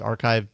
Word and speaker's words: arXiv: we sometimes do Jeff's archive showdown. I think we called it for no great reason. Um, archive is a site, and by the way, it's spelled arxiv, but it's a a key site for academic research.